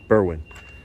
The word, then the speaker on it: Berwyn: So all of you watching, just know that how do you pronounce it? Berwyn? Berwyn.